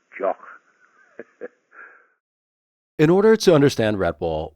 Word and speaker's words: Jacques: When I go to America, people fondly call me Mr. Jack, or Jack, or even people who think they can speak French say, hey, it's pronounced Jock.